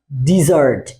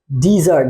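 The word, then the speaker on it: dessert: এর উচ্চারণটা হবে কি ডিজার্ট কি উচ্চারণ হবে ডিজার্ট ডি আই বা ড রস ইকার ডিজার্ট নট ডেজার্ট মাথায় রাখবেন ইট উইল বি ডিজার্ট কিন্তু এইটারই আরেকটা সিমিলার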